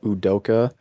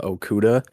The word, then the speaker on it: Udoka: rick carlisle and uh udoka who i previously pronounced uh okuda which is not the nfl cornerback um because they both